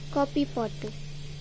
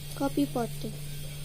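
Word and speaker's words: 커피포트: Now I'll teach you how to pronounce it. KEOPIPOTEU, copy pot. Copy pot. Copy pot.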